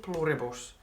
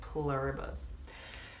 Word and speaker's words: Pluribus: I'm calling it pluribus just because that's the way we would pronounce it in Finnish and I don't want to try to be American. I want to try to say it like pluribus.